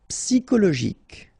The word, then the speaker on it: psychologique: Psychologique. Okay, remember it's an exception here because you've got this CHO. Normally we should pronounce it CHO, okay, but in that case we pronounce it CO.